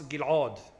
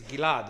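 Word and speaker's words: Ghil'ad: oh can you pronounce gil g usually it's gilad as if it's j gilad gilad yeah but it's Gil the Greeks took the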